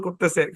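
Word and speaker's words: corps: ও আর পি এস এখানে পি টা silent হ্যাঁ এস টাকেও সাইলেন্ট রাখেন এস টাও সাইলেন্ট এ শব্দের উচ্চারণ হচ্ছে কোর কোর এই শব্দের মধ্যে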